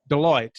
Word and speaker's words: Deloitte: Deloitte, yes, Mm-hmm.